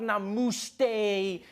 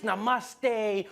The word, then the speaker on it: namaste: on like dude it's not namuste it's namaste who messes up namaste